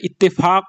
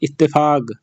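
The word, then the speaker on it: اتفاق: চুক্তিরে বলে ইত্তেফাক ইত্তেফাক আসলে এটা ইত্তেফাক হয় কিন্তু সৌদিরা কফে গ উচ্চারণ করে তারা বলে ইত্তেফাক এভাবে বলে তারা ইত্তেফাক মানে চুক্তি তারপর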